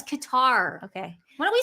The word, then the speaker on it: Qatar: you were saying Nancy it's qar guys I I actually looked it up it could be cutter if you go under pronunciation no it is Qatar okay why don't we